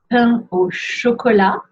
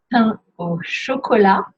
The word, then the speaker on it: pain au chocolat: Ensuite, pain au chocolat. Pain au chocolat. Don't pronounce the T.